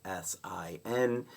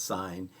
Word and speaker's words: sin: sign is just abbreviated s i n so we don't say that as Sin even though it looks like sin we still pronounce it as sign and Co we don't